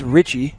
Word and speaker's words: Richie: It's instead of Reach, it's Richie.